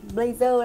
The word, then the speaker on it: blazer: hay gọi là mặc blazer đấy thì cách đọc tiếng Anh của nó cũng gần gần như vậy nhưng mình nhấn nhá vào trong âm nhá blazer blazer Đây là